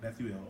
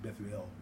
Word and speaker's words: Bethuel: was born to Bethuel, how you pronounce that, but Bethuel, I think Bethuel, because you want to do the EL sound in it.